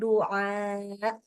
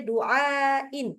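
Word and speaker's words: دعاء: Illa doa. Ada A-nya, bukan doa. Bukan digituin. Oh, iya. Ya, itu cuman berlaku kalau dibaca dengan dihentak tadi, kalau dia duain atau duaun.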